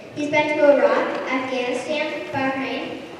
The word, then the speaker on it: Bahrain: He's been to Iraq, Afghanistan, Bahrain. That's how you say it, Baharin.